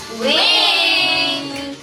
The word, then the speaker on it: VVINK: How to pronounce wink? Wink or wink? It's pronounced as wing." So iyung V po when you put it together, it becomes a W.